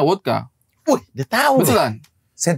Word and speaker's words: vodka: kayak putih begini juga bukan Vodka seben bacanya wodka Wih dia tahu betulan